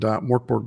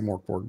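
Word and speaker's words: Mörk Borg: It's actually, I say Mork Borg, but it's pronounced like Mirk Bjorg or something like that.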